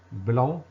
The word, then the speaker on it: blanc: Blanc, on a un C qui se ne prononce pas.